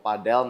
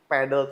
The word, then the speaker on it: padel: Jadi pedle tuh secara pronunciation English itu yang benar tuh di pedle. Cuman karena pedle ini sendiri itu kan sangat populer di Spanyol. Oke. Jadi cara pronunciation mereka jadi banyak yang ngomongnya ke padel.